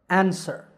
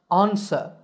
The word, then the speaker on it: answer: An, sir, answer. This is in American English. In British English, it's pronounced answer with an ah sound at the beginning. Answer.